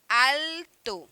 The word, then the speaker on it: alto: Com essa pronúncia puxada do L mesmo, alto, tá?